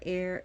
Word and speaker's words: Eir: who is a she her name is spelled e i or all the RS are rolled but you can call her air if you cannot pronounce the rolling r her other names are